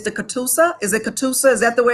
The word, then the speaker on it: Catoosa: Is it Catoosa? Is that the way it's pronounced?